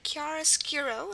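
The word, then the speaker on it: chiaroscuro: word Kiara skuro and the first sound we have is the C Sound now remember the C Sound at the beginning of a word can be either C or ch um there aren't that many with ch but if they are they precede an i and because we have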